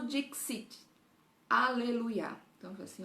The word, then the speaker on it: dixit: Sicu dixit. Então, o X é xi, né? Sicu dixit.